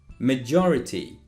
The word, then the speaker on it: majority: have judge and joker make sure you pronounce that j in the middle with the same sound so let's go one